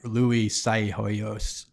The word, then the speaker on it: Psihoyos: to to parlay on that I can never pronounce that guy's name like Louie Psihoyos yeah you got it yes but I mean